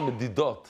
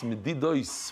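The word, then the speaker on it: מדידות: It's moirdik. It's not medidot. It's medidos with the samach.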